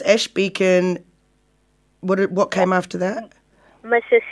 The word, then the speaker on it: Bechan: new zealand candidate 2021 so ash and it's pronounced beacon b c h a n yeah but it's about with h right and and you've and it's ash beacon what came after that mrs universe right 10